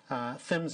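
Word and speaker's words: PHMSA: the acronym but then i'm going to say that it is fins of the pipeline and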